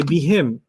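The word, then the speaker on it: بِهِمْ: Hum is also hum, and sometimes it sounds nicer to say what? Him, right? So you could say be him.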